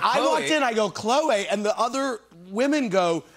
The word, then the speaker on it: Khloé: i'm pronouncing her name we're all been pronouncing her name wrong this whole time it's chloe chloe is the name there's a little accent over the name wait what wait wait